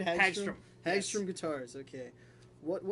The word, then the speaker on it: Hagstrom: Hagstrom.